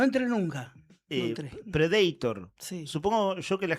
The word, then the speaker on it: Predator: Se dice Predator porque está en inglés. Predator. Claro, pero no, suena horrible, es una no- banda de heavy metal. No entré nunca. No Eh, entré. Predator.